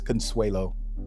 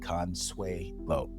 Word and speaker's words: Consuelo: Yes, it's Consuelo. Consuelo. Yes. I I tell people you can pronounce it if you could spell it with the s w a y.